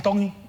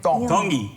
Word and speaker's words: Tongi: My name is Iam Tongi, and I'm from Kahuku, Hawaii. Iam Tongi. Tongi. You pronounce the T's like a D in the Tongan culture.